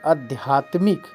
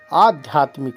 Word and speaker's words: आध्यात्मिक: इमरती इमरती अब देखिए कुछ लोग कहते हैं अध्यात्मिक तो अध्यात्मिक नहीं आ आध्यात्मिक होता है आ ध्या तमिक आध्यात्मिक